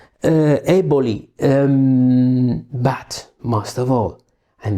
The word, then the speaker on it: Eboli: This is the exact Italian pronunciation. Eboli.